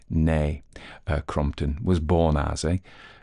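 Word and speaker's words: née: about that so I will do it correctly nay uh Crompton was born a crompton's Early Education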